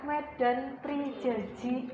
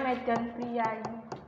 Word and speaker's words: Medan Prijaji: Eh jangan lama ya Medan prenji gitu ya bacanya Medan prijaji itu apa namanya surat